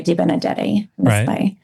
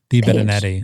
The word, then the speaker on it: DeBenedetti: Next year if I see I think you just said it wrong. No, I didn't. Deep Benetti. Deepenetti. Isn't that what I said? Wrong. What the hell? You're missing a letter.